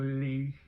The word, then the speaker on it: Legh: I don't know how to pronounce it. It's Legh. I want to go with Lee.